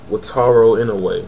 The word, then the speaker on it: Wataru Inoue: Next match was Christopher Daniels versus Wataru, what does he say his name? Wataru Inoue, that's how he says his name.